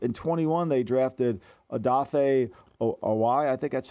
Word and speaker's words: Oweh: They drafted Odafe Oweh. I think that's how you say his name. Oweh, yep.